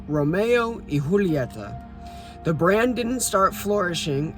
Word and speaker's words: Romeo y Julieta: The two named their cigar brand after the famous Shakespearean tragedy Romeo and Juliet, but since they were Spanish, it's pronounced as Romeo y Julieta.